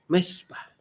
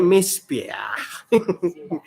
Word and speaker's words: מִזְבֵּחַ: Dan salah satu kondimennya atau hal di dalam bait suci itu adalah mezbah. Bahasa aslinya, bahasa Ibraninya itu tulisannya mizbeah. Tapi saya rasa bacanya sama. Mezbah.